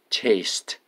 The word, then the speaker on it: chased: The dog chased us. Chased. E-D at the end, you pronounce T, okay?